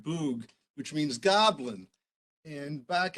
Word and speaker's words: bwg: Bug in Welsh is BWG, pronounced boog, which means goblin.